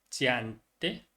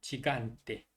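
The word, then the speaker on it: gigante: 근데 이하고 에 하고 만나면은 지읒 발음이 된다고 생각하시면 되겠습니다. 지안테 아니죠. 지간테, 지오바네, giardino, gelato, germania.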